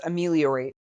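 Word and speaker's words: ameliorate: best yeah all right it's pronounced amarate I had to look it up that's a good word it's something that means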